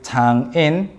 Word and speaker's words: 장인: of words so for men the father-in-law is tangin tangin or I hope I'm pronouncing everything slowly enough and your mother-in-law isang